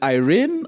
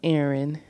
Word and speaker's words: Erin: listening in who is is it Irene or how do you pronounce that it's Aaron Aaron yeah okay if I